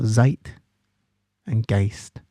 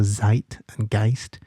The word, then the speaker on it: Zeitgeist: So zite and gist and use the German spelling. So it's because it's pronounced with the with the emphasis on the I. So zite and gist.